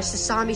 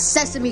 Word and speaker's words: Sesame: decided to go by sasami Street and beat him up dude it's Sesame Street not sesami Street okay I don't really